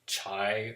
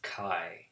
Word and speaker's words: chi: here it looks like chai or Chi but it's pronounced Chi it rhymes with die or mai mai chi